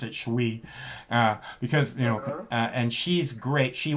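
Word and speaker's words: Shu Qi: Her name's Shuqi. I pronounce it Shui, because and she's great.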